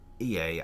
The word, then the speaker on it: Ea: When the vibration of vocal folds, was still very required to convey our thoughts and intention, EA, I believe, was the pronunciation used when referring to our people.